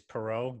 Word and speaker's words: Perrault: what is that Italian it's actually French but the proper way to say it is Perrault that's the French way but no one ever